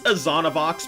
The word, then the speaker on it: Azonavox: It's Azonavox, but most people just call me Azon.